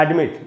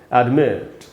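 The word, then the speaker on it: admit: एडमिट हम लोग इसको बोल लेते हैं एडमिट, उसमें हम पहले स्ट्रेस पे पहले सिलेबल पे स्ट्रेस देते हैं, वो सही नहीं है। जो इसका करेक्ट प्रोनाउंसिएशन हुआ है एडमिट, एडमिट। तो दूसरे वाले स्ट्रेस पे सिलेबल पे स्ट्रेस है, यहाँ पर एक्चुअली स्ट्रेस है, एडमिट।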